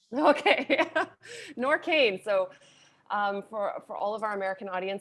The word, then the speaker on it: NORQAIN: did have one question actually how do you pronounce the brand name yeah nor kane okay nor cain so um for for all of our american